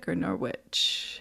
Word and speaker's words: Norwich: Lauren has been teaching yoga and meditation since 1997 and created energy medicine yoga while teaching at Norwich. How do you pronounce it?